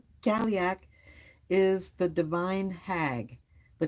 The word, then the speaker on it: Cailleach: It says in Irish and Scottish folklore, the Cailleach, pronounced, Cailleach, Cailleach, is the divine hag,